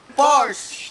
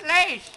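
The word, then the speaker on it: Lay's: How do you pronounce it? Force. No, it's lace.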